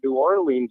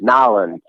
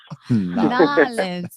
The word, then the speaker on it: New Orleans: I walked around saying, "Wow, New Orleans is really cool." And they're like, "No, it's Nowlands." Nolans.